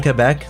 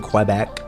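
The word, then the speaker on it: Québec: Hey guys, hey Quebecois out there, you notice I'm saying Quebec now, like on the regular, like by default I'm no longer saying Quebec.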